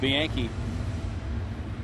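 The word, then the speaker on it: Bianchi: 85 Milwaukee on top the Brewers have Jeff Bianke yes that's how you pronounce it bianke at third base and John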